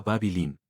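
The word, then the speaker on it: Bāb-ili: En Acadio, la lengua que hablaban sus habitantes se pronunciaba babilín, que significa la puerta de los dioses.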